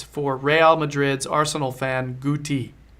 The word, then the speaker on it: Guti: Guti. No, it's a hard G.